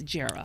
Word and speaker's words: Jera: reporter named Jera Stapleton, a lot of people don't know how to pronounce her name. It's short for Geraldine, but it's Jera.